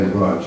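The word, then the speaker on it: Łódź: between his birth in I'm going to say rudge is that okay I don't know why it's spelled l o d z and pronounce fudge but between his birth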